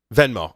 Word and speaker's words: Venmo: all the hipsters using venmo is it venmo did I say that right venmo memo then and yeah venmo I did say it right you know they've got